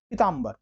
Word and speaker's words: पीतांबर: कि कौन गलत है उच्चारण सही आप कर रहे हैं पीतांबर सुना कभी पीतांबर होता है हमेशा कैसा होता है पीतांबर पीत है अंबर जिसका पीला है जिसका